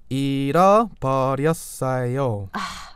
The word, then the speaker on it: 잃어버렸어요: 잃어버렸어요. Good idea. 잃어버렸어요.